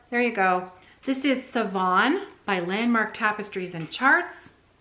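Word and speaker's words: Sevan: It is Savon, like seven.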